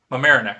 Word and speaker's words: Mamaroneck: of this is closer to you did I pronounce this correctly this morning Mamaroneck Mamaroneck okay I looked at that I'm like what